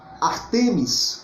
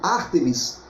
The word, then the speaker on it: Ártemis: cultura grega era a deusa Artemis, não é isso? Ou Ártemis. A pronúncia vai ter variação de acordo com a fonte de pesquisa que você venha utilizar.